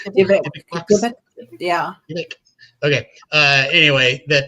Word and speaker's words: Dybbuk: everybody believes, I think it's popular anyway, that a Dybbuk box is a cursed object, right?